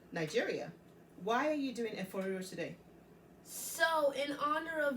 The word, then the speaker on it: Efo Riro: Okay, so I'm going to repronounce that for you. It's actually Efo Riro. Say that again. Efo Riro.